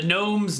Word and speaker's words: gnome: The gnome's nose. Right. Both with with the yeah. No, the gnome isn't spelled with a G. There's no G in the gnome, but there's a G